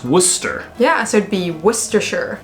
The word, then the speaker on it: Worcestershire: But we learned it's pronounced Worcester. Yeah, so it'd be Worcestershire. Worcestershire. Worcestershire. Worcestershire.